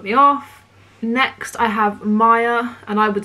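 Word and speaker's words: Maia: Next, I have Maya, and I would spell it M-A-I-A, and that means the Roman goddess of spring.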